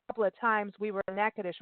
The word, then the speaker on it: Natchitoches: I'm going to spell it because it's not how it sounds. It's Natchitoches, like Natchitoches. Natchitoches. Natchitoches is how you pronounce it.